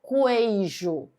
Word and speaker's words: queijo: Queijo, que u são duas letras que tem apenas um som de ígrafo consonantal. Eu não falo queijo, falo queijo. É como se eu não pronunciasse a letra U.